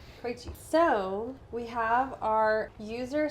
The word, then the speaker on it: Krejci: this is how do you say your last name properly Cree Cree so we have our